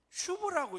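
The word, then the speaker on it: שוב: 이 구약에서는 슈브라고 읽었어요. 슈브.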